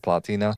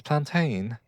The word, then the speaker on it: plantain: All right, let's make ourselves a grilled plantina. No, but generally this is that Sorry, someone's telling me how to pronounce plantain, guys. Plantain. Yeah, this is actually I'm